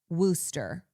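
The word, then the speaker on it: Worcester: Yeah, I want to say it like worchester. Worusta spelled W. See, that's when English words I go, what's happening here? Wo R C E S T E R. Worooster.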